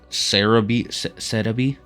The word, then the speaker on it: Celebi: It's C-E-L-E-B-I. Cerebi is just the name of the website. I think it was based off of the Japanese pronunciation and then turning that into Romaji, which is Romanized.